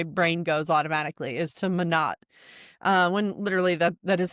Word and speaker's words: Monat: In fact, Monat is the German word for month. And I took German, so that's where my brain goes automatically, is to Monat.